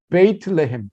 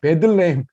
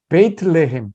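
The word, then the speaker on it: בית לחם: 여러분 잘 아시는 베이틀레헴, 베들레헴 잘못된 발음인데 사실은 베이틀레헴 빵집이라는 뜻이에요.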